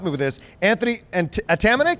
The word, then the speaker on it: Atamanuik: Anthony and Atamanik? Atamanik.